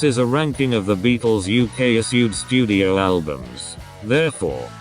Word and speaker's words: Beatles: for the linguistic experts Maybe it's not the Beatles pronounce the T not a false d go on try it